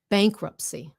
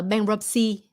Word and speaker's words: bankruptcy: Bankruptcy. Không phải là bankruptcy. First syllable. Bankruptcy. Volumen, bang liền.